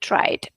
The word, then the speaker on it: tried: And now, guys, honestly think, have you ever pronounced lived, chilled, enjoyed, tried with t?